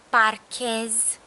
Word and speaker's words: parchez: We're gonna have to keep its hardness by adding H between C and E, and you know that the sound is pronounced in Romanian as che. So it's gonna be eu parchez, tu parchezi, el parchează,